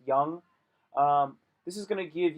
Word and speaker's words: Jung: The Jung test, Jung, Jung, it's pronounced Jung.